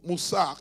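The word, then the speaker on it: musar: Alors, il y a un terme en hébreu qui est souvent utilisé, c'est le terme moussar, qui s'écrit M-U-S-A-R, qui est fréquemment utilisé pour désigner le mot discipline ou l'instruction morale.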